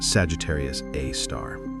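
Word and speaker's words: Sagittarius A*: A super massive black hole given the name Sagittarius A star, pronounced Sagittarius A star.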